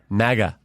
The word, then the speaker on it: MAGA: So I asked the president, and he said it's MAGA. Like magazine. Right. Like magazine. Why do people keep saying MAGA?